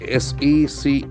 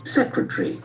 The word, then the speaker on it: secretary: secretaries with industry structure s-e-c-r-e-t-a-r-y probably a very common word but see the pronunciation of that secretary secretary Jackson falls on the first suitable secretary once again secretary